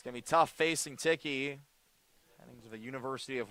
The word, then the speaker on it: Tichy: Rather Nate Ticky, that's how you say it.